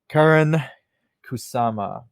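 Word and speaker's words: Karyn Kusama: mentioning for mine the 2016's The Invitation with Karen Kusama.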